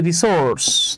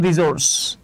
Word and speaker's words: রিসোর্স: Bangladesh has limited natural এই শব্দটাকে আমরা বলি রিসোর্স তাই না কিন্তু উচ্চারণ হচ্ছে রিসোর্স দেখেন অলদো বাংলাদেশ হ্যাজ